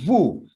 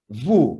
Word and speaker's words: vous: together, you can use vous. Can you say vous? Vous. But this one, nous and vous, as you can see, when we speak, the final consonant S is not pronounced. They are not pronounced.